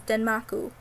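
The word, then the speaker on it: デンマーク: Denmark is also referred to as Makun or Markun, which both stem from the Japanese pronunciation of Denmark, which is Denmaku.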